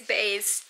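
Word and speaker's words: Béis: I don't really know how to say it. It's Bays, to confirm. I saw a YouTube video about it. It's Bays.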